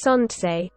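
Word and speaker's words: солнце: welsh hall and russian sanchez solnsei pronounced sontsei as well as with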